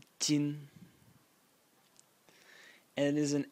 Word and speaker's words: 斤: And the semantic element of the character is this one over here, which is pronounced jin, and it is an X.